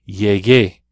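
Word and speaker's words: llegué: a god would be yay gay you gotta have that you in there to preserve the hard G sound giggle escuela I came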